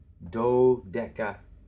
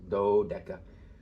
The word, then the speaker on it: dodeca: Tone, dodeca. Here the accent is on this first syllable, dodeca.